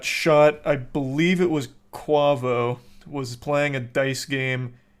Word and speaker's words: Quavo: his own business basically it's pronounced quavo have I been saying it wrong all these years oh